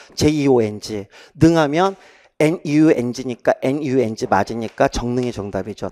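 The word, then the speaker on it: 정릉: 그러면 여러분 정능은 여러분 너무 평이하죠. 왜냐하면 여러분이 정능 그러면 얘가 여러 식구항 발음으로 정능이 되니까 얘는 의문 변동형으로 써야 되죠.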